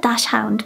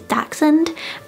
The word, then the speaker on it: dachshund: to research and so i always said dash hound but then i heard it's dachshund and i i just